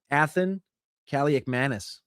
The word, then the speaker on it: Athan Kaliakmanis: Athan Kaliakmanis. You like that one? I know that pronunciation because my brothers asked me 100 times.